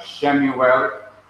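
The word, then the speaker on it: שְׁמוּאֵל: Again, it is to be pronounced when it is in an open syllable, like Shemuel, S-H-E, the E is the Shewa.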